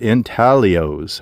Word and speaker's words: intaglios: In 1932, pilot George Palmer spotted 6 giant figures etched in the ground along the Colorado River, called intaglios. I guess the G is silent.